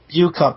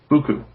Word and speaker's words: Buku: Bu-Cup, you mean? Buku. Buku? Buku. Buku? Buku. Buku. Like bukus and bukus, yeah.